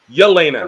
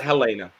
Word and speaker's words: Yelena: what helena did in confronting yelena not helena yelina yeah what elena didn't